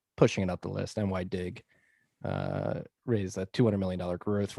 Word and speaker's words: NYDIG: Also, it turns out the pronunciation is NYDIG.